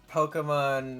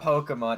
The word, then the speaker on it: Pokemon: Yeah, it's just that classic Pokemon media sort of just over pronouncing things, you know. Oh yeah. This guy it's not Pokemon, it's Pokemon.